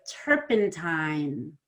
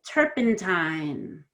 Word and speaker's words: turpentine: So first you said turpentine, and you said time really fast, but that has an N, and N is voiced. You can test it, it's vibrating. So you need to spend more time on the I before the N.